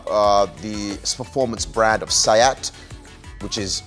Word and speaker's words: SEAT: Cupra is uh uh the performance brand of sayat which is spelled seat s-e-a-t um which is actually owned